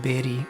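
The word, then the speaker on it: Bairī: And similarly, you'll see a horizontal line over an I on the word Bairi, which it's not something you're going to hear very much in the singing. You don't have to worry about it, but that's a long I.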